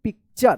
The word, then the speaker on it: picture: इस TU का च उच्चारण होगा वर्ड्स में, ठीक है। इसको आप ध्यान रखिएगा। जैसे यहाँ पे फ्यूचर, कल्चर, PICTURE क्या पढ़ेंगे इसको? पिक्चर।